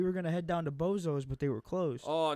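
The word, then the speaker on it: Bezos: You know what the great old question for me is it Boz or is it Bozos? That's the thing. It's actually pronounced like Boz, and Yeah.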